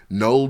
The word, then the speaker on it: Knull: pull out the nine with the silent k null did by making a